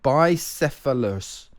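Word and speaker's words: bicephalous: Oh my, I this word is is an absolute monster to pronounce. So I apologize. Uh but it's bisphilus by the bisphilas. It means two-headed.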